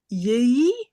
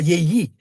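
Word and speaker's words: יְהִי: Yé, yé, yéhi. Yé, non, pas yéyi. Je sais pas. Non, non, il faut dire yé.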